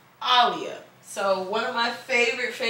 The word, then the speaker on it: Aaliyah: And actually, on the back of my flannel, if I move my hair around, it's Aaliyah. It's actually pronounced Aaliyah.